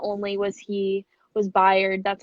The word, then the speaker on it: Bayard: So like not only was Bayard, that's how you say it, right?